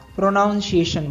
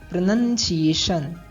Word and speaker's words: pronunciation: next word है उच्चारण जिसको हम प्रोनाउंस एशन बोलते हैं और ये प्रोनाउंस एशन नहीं होता है इसका सही प्रोनंसिएशन क्या होगा प्रोनंसिएशन सही उच्चार है प्रोनंसिएशन नेक्स्ट वर्ड है साधु